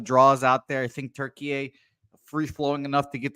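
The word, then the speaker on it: Türkiye: that it is now turkey is how it's pronounced apparently now so shout out to Turkey a versus Chia here two new names that we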